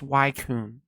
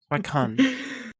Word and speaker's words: Suicune: Anyways, it's obviously pronounced Suicune. Suicune.